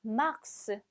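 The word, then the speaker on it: mars: 3월 그 다음에 1월입니다 3월은 마지막 s 가 마지막 자음 임에도 불구하고 끝까지 꼭 발음이 나죠 맑스가 됩니다 40 해서 끝나는 게 아니라 막스 발음이 되구요 그 다음에 7월 같은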